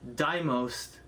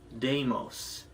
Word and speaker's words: Deimos: for the last year i have pronounced the name diamost this whole time as that until recently someone pointed out saying hey it's not pronounced that it's pronounced deimos i find that weird